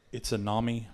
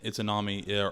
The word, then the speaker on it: Izanami: So Izanagi, and Izanami, I think is how you say both of them.